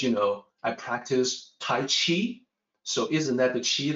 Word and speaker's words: Qi: pronunciation exactly the same the pinyin romanization is Qi the Q is always CH so that's cheap and careful here it's not ki q is doesn't sound